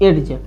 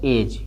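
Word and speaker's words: edge: एडज लेकिन इ डी है silent है। अगर डी साइलेंट है तो क्या पढ़ेंगे इसको? एज।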